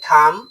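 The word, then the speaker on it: thumb: টি এইচ ইউ এমবি এর উচ্চারণ থাম্ব হবে না। এর উচ্চারণ হবে থাম যার অর্থ হল বৃদ্ধাঙ্গুলি।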